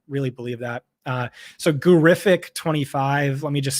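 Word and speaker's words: Gurrific: believe that uh so gurific 25 let me just spell that out for you all right yeah g-u-r-r-i-f-i-c 25. terrific like terrific it's because John Hanson's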